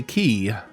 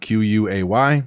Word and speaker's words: quay: This is a key, or a key wall more specifically, and it runs along the water. It's spelled Q-U-A-Y. It's pronounced key or K or quay. All three are acceptable pronunciations.